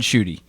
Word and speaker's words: Schutte: yeah no yeah so my name is uh schutte okay i would have got it wrong i was going with shoot shoot i i've gotten shoot